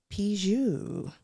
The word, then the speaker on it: Pigeau: Miss Pigeau. I did it right, yeah? Yeah, I did it right. You got that soft G first try.